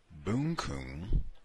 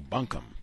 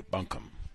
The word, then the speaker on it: bunkum: week's broadcast, it struck me that the word boonkoon, referenced as a street in Edgefield, South Carolina, mentioned in the text, has a definition. Insincere speech." Oh, bunkum. Pronounced it incorrectly. Bunkum.